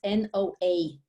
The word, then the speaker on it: Noa: And if you listen to it, it's Noa. Noa. There is no No age, H. no age, because Noah. in Hebrew, Mhm. Noah, Noa is a girl name. Okay. And Noah with the H, you pronounce Noach. And you don't have ch in English.